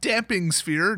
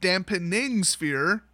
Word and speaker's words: Damping Sphere: the graveyard next up damping sphere not dampening sphere which they literally just